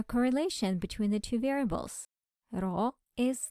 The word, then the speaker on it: rho: variables the linear correlation coefficient of the population pronounced as roow is equal zero and alternative hypothesis is that there is some linear correlation between the two variables raw is not equal to zero we use Alpha